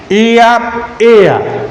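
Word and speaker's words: heir: Here we find AR, H is remaining silent here, AR, and here, AR, the person who becomes the successor of anybody's property, that is what we call AR.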